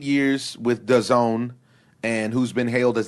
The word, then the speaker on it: DAZN: All right, so outside of the cheesy acronym of a company, it's called DAZN, D-A-Z-N, but you're supposed to pronounce it DAZN.